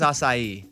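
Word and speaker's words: açaí: to say the word like you would say acai it doesn't sound the same to me right no the word is acai oh well they don't correct me at the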